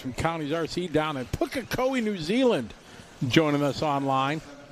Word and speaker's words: Pukekohe: All you guys from Counties RC down in Pukekohe, New Zealand, joining us online. You know, it took me a year to get that right, Basil. I finally say it right now.